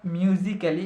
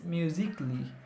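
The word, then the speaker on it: musically: আবার নট মিউজিক্যালি একইভাবে ইটস মিউজিকলি, it's not romantically, it's romantically, not romantically, romantically.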